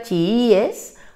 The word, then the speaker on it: chiíes: por tanto diría chiíes para que diga chiíes hay que colocar una tilde en la iv y de esta manera